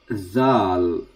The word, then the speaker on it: dhaal: So the letter is dhaal. So here is written as D-H-A-L. Th. So you pronounce the. You put your tongue in the front of teeth.